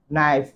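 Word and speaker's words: knife: এই যে দেখো একটা প্লুরাল ফর্ম আসছে নাইফ, এটা কিন্তু কে উচ্চারণ হবে না, বুঝছো?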